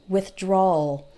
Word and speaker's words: withdrawal: it's kind of just take the word withdraw and all at the end withdrawal withdrawal withdrawal you almost don't hear the W let's see what else